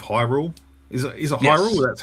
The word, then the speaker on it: Hyrule: Is it is it Hyrule? That's how it's pronounced.